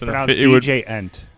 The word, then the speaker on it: djent: They're trying to get it added to the Oxford Dictionary, so it's DJ-ent. Yes. DJ-ent. So it'd be an That's the correct pronunciation.